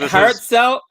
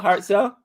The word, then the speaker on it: Harshal: Is it Hartzell? How do I say his name? Hartzell Patel. Harshal Patel. Harshal. Yeah. Oh, Harshal. That's what I thought.